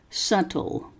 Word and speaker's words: subtle: made the day dark subtle the bee is silent and that was due